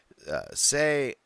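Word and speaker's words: Sai: Now we go over to another new tribe, and Bianca and Sia are hitting it off. Not Sia, Say. Bianca and Say. I do write Sia. Like, it's spelled like almost the same.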